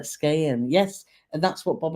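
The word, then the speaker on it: Skagen: It says it's pronounced with a silent G, like rain, like Skayen.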